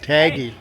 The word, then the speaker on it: Tagge: How is it pronounced? Taggy. Taggy.